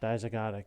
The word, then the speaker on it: dizygotic: Well, all I can think of is the broken pronunciation was a dizygotic. Dizygotic, yeah.